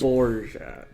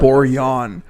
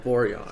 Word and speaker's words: Borjan: Borjat. That's all. Borjan. Oh, Borjan. Pronounce our Savior's name correctly.